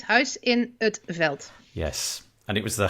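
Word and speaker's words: Huis in 't Veld: It's Huis in Veld.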